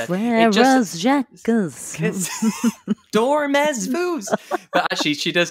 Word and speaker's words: Frère Jacques: And they wouldn't pronounce the S and Z. Frères Jacques.